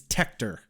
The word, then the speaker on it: Tector: I went to The Buffy Wikipedia and it's tector cuz he's like and his younger brother tea